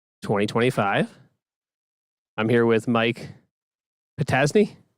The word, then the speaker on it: Potoczny: I'm here with Mike Potoczny. Say it right? Potoczny, you got it.